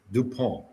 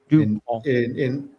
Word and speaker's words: DuPont: pronounce the T at the end. DuPont. Does that make sense? I had 5 years of French. DuPont.